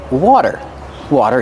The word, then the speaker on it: water: The T is a fast D. Water, water. Then use the voiced R.